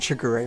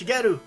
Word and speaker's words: Shigeru: for Satoshi Tajiri and Shigeru Miyamoto. Exactly. Tajiri sees See, Miyamoto as he even says it wrong. It's Shigeru. Shigeru.